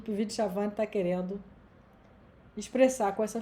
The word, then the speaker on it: Puvis de Chavannes: Se escreve Puvis de Chavannes, se fala Puvis de Chavannes.